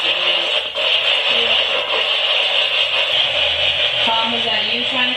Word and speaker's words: Dooley: Okay, you pronounce it Dooley.